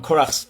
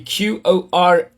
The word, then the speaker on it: Qorah: Korach would have been the popular sounding, but there's also a Yemenite version which will go because naturally they would pronounce with the Q in many cases instead of the K, so that would be Qorah.